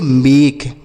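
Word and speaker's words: make: इसे हम पढ़ेंगे मेक। क्या पढ़ेंगे? मेक। तो किसी भी शब्द के लास्ट में इ रहेगा तो उसका उच्चारण हम नहीं करते हैं। मतलब उसे नहीं पढ़ते हैं।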